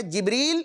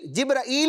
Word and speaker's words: جبریل: بچوں یہ 3 میں نے نام اس لیے ذکر کیے ہیں, نام ایک یہ, اس کے تلفظ مختلف ہیں, تینوں تلفظ درست ہیں, جبریل, جبرائیل اور جبرائیل.